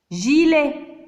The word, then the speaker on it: gilet: Et le G devant I, c'est J, gilet.